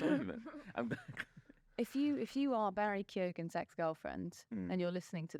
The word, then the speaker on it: Keoghan: He's Barry Keoghan. Keoghan, that's how you say it.